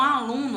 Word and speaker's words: aluno: Aluno, tá vendo? A sílaba tônica de aluno é o lu. Após a sílaba tônica eu tenho mais uma sílaba. Então, aluno, a sílaba tônica dela é a penúltima.